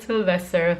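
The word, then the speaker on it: Silvester: Yes, we call it Sylvester, like Sylvester Stallone. It's actually spelled with an I instead of a Y.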